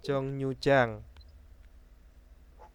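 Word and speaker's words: 정류장: Nah, terus ada jongnyu-jang. Halte ya, Halte, ya betul. Jongnyu-jang itu adalah halte. Dungnyo, jongnihada, jongnyu-jang. Bukan dungryo, bukan jongrihada. Nah, itu bacanya jongni.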